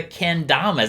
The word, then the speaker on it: kendama: so let's talk about let's talk about the kendamas am i saying it right the kendama yeah